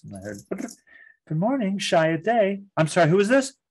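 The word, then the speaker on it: Chiat/Day: So I got to the dean's office and knew the code for long distance, called Los Angeles, and I heard, good morning, Shia Day.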